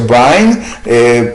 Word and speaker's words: Vine: El diccionario Vine, que se pronuncia Vine, dice pelikos también y significa cuán grande.